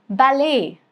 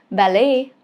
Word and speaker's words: ballet: For example, ballet, the dance, ballet, okay? Next is beret, which is a round flat cap beret, okay? Again, T is silent. These two words are French originated, so T is silent here in some of these cases.